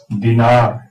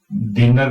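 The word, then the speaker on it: dinar: दिनार, इसको हम दिनर नहीं बोलेंगे, इसको दिनार बोलेंगे।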